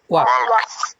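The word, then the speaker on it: walk: ওয়াক। ওয়াক, হ্যাঁ, এলের উচ্চারণ হয় ওয়াক।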